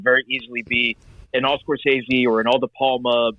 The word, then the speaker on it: Scorsese: like this could very easily be an all Scorsese or an all De Palma Mountain, and I decided go with one from each. And one Scorsese, has he made a mob movie? Am I pronouncing it right?